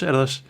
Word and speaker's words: Erdős: Que es, Erdős se pronuncia, Pedro. Erdős.